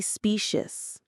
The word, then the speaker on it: specious: This programmed empathy, this performance of understanding is ultimately specious. That's a powerful word. Let's stop and really look at it. Specious. Say it with me. specious. The stress is right at the beginning on that specious.